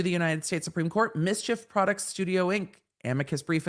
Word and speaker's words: MSCHF: named us the future we call ourselves mischief pronounced mischief footnote one no counsel